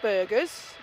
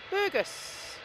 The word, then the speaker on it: Burgos: Not Burgers, Burgos.